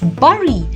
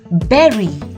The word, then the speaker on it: bury: I was a kid I used to read this word as Bari but now I know that it's not bury it's Berry and lastly famously the L